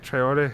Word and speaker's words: Traore: Am I saying that right? Traore? Yep.